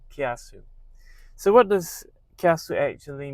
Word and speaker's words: Kiasu: So you say the word together kia and sue. Kiasu.